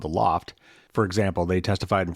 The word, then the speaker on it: L0pht: classic hacker group called The Loft and that is spelled l0 PHT as only hackers would to and he wrote